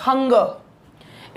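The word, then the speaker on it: hunger: तो ये यहाँ पर ये है, पहला है आपका हंगर। इसको प्रोनाउंस करते हैं दैट जब लास्ट में र आता है तो वो अ बन जाता है।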